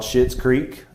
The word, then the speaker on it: Schitt's Creek: It's called Schitt's Creek. It's spelled SCHITT. It's not the cuss word. It's a last name.